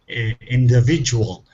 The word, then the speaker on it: individual: Individual. The D soft.